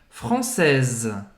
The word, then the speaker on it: française: E aí, quando a gente fala no feminino, francesa, é como se a última coisa a ser pronunciada fosse o S. Um Z, né? Française.